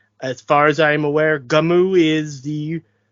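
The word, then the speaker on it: Gunnm: far as I aware Gamu is the correct pronunciation it's Japanese go with it but also the when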